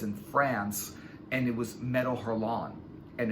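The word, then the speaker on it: Métal Hurlant: France, and it was Metal Hurlant. And it's not Metal Hurlant because I heard the way they pronounce it, and they pronounce it Metal Hurlant because it's French.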